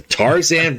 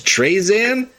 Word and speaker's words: Tarzan: I know it's not spelt the way I'm pronouncing it, everyone. For anyone who's ever angry at my pronunciation, that is the worst mispronunciation I have. Where I move the R around out of spite.